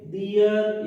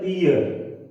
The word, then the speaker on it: their: दे, देम, दियर, इसका सही उच्चारण होता है दियर, है ना, देयर नहीं होता है।